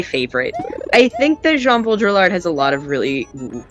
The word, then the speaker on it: Baudrillard: Yeah, Cole is now calling you out on the pronunciation of... It's Baudrillard. Oh, is it Baudrillard? I've always said Baudrillard, and I've never been corrected.